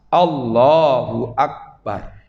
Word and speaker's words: Allahu Akbar: Oleh karena itulah bacanya harus pas. Allahu Akbar. Kalau Allahnya memang betul, karena itu lafdzul jalalah, asma Allah, nama Allah, maka Allahnya dipanjangkan. Ya, tapi tidak usah panjang sekali.